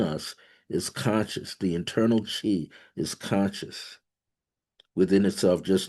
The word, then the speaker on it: qi: That energy is called chi, chi. That's the English version. Chinese version, they spell it qi.